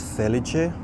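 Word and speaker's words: Felice: feliche or Fel Fel I think it's feliche I just went to Italy so you would pronounce it feliche very cool little tree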